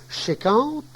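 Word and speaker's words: cinquante: 50 se prononce chéquante, ça m'a coûté 50 francs, cela m'a coûté 50 francs.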